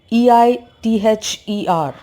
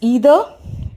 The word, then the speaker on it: either: For example, the word either, E-I-T-H-E-R, can be pronounced as either or either. Like the I can be pronounced like E or AI, either.